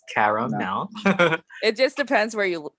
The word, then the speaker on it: CaraMel: I always get like, is your name Caramel? It's like, no, it's no. 3 syllables, CaraMel.